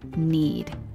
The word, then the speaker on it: knead: D meaning amasar lamasa take care with the silent letters in the verb need which is spelled k n e a d next to pop up